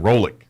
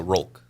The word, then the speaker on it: Rolk: See, now I was thinking Rolick. Did I get it right? Say roll with a K, so Rolk.